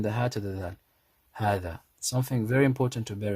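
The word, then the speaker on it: هذا: And when you pronounce it, make sure you read it with the alif. You pronounce the ha 2 counts and the dha 2 counts. Hadha.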